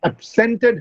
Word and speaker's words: absent: She has absented herself today. So the stress, when you use absent as a verb, the stress changes on the, or shifts on the second syllable.